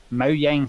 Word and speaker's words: Mojang: bit of botulism you'll be fine apparently my Mo Yang has a new name the student studio is now called Mo Yang Studios that's not a different name that's the